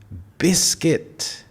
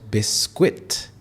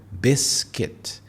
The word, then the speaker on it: biscuit: It is biscuit and not biscuit. So we have two syllables here, biscuit.